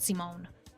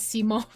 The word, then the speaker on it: Simone: I always find it funny Meadow pronounces Simone as Simone. I don't know how to pronounce it anymore. I would normally see that and go Simon, but apparently his name is not Simon.